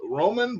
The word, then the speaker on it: Vroman: I want to introduce Rick Vroman. Yes, it is Roman, but the V is silent.